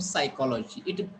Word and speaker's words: psychology: If you think the spelling of psychology, it pronunciation starts with S and spelling starts with C.